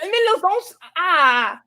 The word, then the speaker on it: Mieloszynska: Mieloszynska. Okay. It's SKI is the man. SKA is a female.